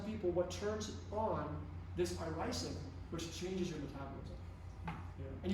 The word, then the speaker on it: irisin: be, for some people, what turns on this irisin, which changes your metabolism.